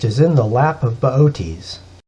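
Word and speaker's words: Boötes: in the lap of baotis if you saw his name spelled out you'd want to pronounce it booties but it's baotis he's got a big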